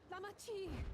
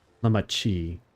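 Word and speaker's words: Lamaty'i: Lamati. Lamachi. Chi is how they say it.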